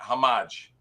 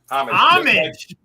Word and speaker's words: homage: it's a homagi no not a hamagi Homa homage homage just like the dictionary tells you that it's pronounced it's a homographic picture they said babies